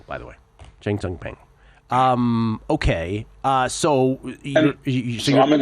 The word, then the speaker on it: Cheng Tsung: Cheng Tsung, by the way. Cheng Tsung Peng.